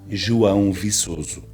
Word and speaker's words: João Viçoso: Kevin commented on one of my videos and asked how my name is pronounced in Portuguese. So Kevin, here it is. My name is João Viçoso.